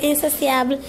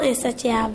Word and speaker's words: insatiable: insatiable c'est bien insatiable même si c'estécrit t I a b l e il faut bien prononcer insotiable et non insatiable insatiable et non insatiable